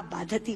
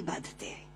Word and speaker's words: बाधते: कष्ट दे रहा है, क्योंकि बाधती शब्द का अशुद्ध उच्चारण आपने किया है। ये शब्द बाधते होना चाहिए।